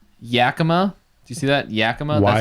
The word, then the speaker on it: Yakima: Yakima. That's how you pronounce that. It's Yakima.